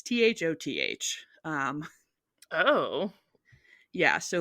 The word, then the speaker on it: Thoth: It's Thoth.